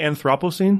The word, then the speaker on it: Anthropocene: Oh, I say Anthropocene.